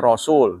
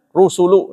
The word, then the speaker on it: rusul: Orangnya yang diutus namanya rasul, duta artinya. Bentuk zamannya rusul. Amanar rusul, harus dibacanya rusulu, nah, nggak boleh rasul.